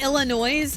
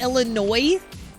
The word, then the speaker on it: Illinois: The S is silent. Wait, is it really? It's not Illinois, it's Illinois.